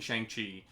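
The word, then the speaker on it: Shang-Chi: don't think shang chi i'm trying to get that freaking pronunciation out of my head because i've been pronouncing it one way since i was a child right but it's shangchi um and i want to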